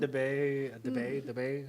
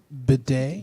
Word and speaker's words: bidet: Yeah, get yourself a and- debate. How you say it? It's too much work. No, How you say I'm saying it wrong? Bidet.